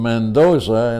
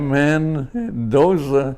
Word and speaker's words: Mendoza: For example, my name is Mendoza. And Mendoza, it's it's spelled, you know, how can you Yeah. Mandoa.